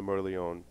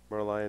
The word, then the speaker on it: Merlion: Merlion, Yeah, Merlion. potato. Yeah. Okay. Gotcha. That I'm glad line- you're relaxed about pronunciation because we suck at it.